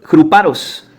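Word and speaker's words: ῥυπαρός: Gruparos. Es gruparos. G R U P A R O S. Gruparos, con acento en la O.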